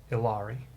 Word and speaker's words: Illari: what are the my players called again illidari illari spell it i-l-l-a-r-i or the elders as they call